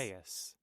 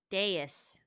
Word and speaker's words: dais: I want them to pronounce this. Dais. Dais.